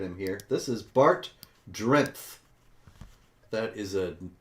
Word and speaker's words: Drenth: here this is Bart drenth that is a name a Dutch name Bart drenth probably saying it wrong but it's d-r-e-n-t-h like strength yes I went out